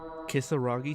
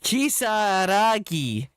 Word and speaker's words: Kisaragi: Kisaragi Station. God damn, you say that terribly wrong. Kisaragi. Kisaragi, you fucking bitch.